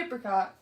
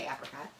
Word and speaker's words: apricot: this apricot okay because some people say apricot and i say apricot mango blackberry and dark